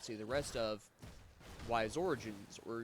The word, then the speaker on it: Ys: may or may not see the rest of, Ys Origins, or Ys Origins as it's properly pronounced.